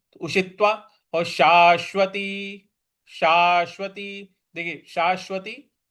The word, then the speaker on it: उषित्वा: लोकाित्वा शाश्वती शाश्वती देखिए उषित्वा पे जो त था उस पर हमको बल लगाना है। उषित्वा और शाश्वती शाश्वती देखिए